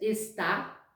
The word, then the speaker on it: está: Até a pronúncia é diferente. Existe a pronúncia está, que é o verbo, e existe esta, que é o pronome demonstrativo.